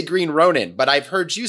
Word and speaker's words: Green Ronin: and i probably pronounced it wrong i say green ronin but i've heard you say green ronin that is the correct pronunciation of that company name i love it